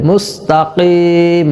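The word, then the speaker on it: المستقيم: নাসতাাইনদিনসদিন সিরাত সিরাত মুস্তাকিম কফের উচ্চারণ গলার ভিতর থেকে হবে মুস্তাকিম বড় সিরাতল মুসতাকিললা জাল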